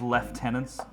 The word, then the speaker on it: lieutenants: who made the game calling lieutenants left tenants how dare they the is that such a weird that's that's a nonsensical pronunciation to me like genuinely like what